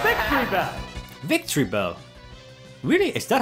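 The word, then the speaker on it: Victreebel: Oh, it's Victory Bell.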